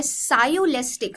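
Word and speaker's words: sciolistic: They brought to their सायोलेस्टिक. सो इसको, ये जो शब्द है, इसको एक्चुअली आप प्रोनाउंस कैसे करते हैं, इसे आप प्रोनाउंस करते हैं सायोलिस्टिक की तरह.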